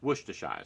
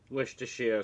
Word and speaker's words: Worcestershire: Yes, Worcestershire sauce. I always like to throw a couple extra syllables in there because I'm having silly.